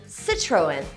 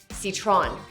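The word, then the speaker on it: Citroën: Firstly, you should say Sih-troh-en and not Sit-tron!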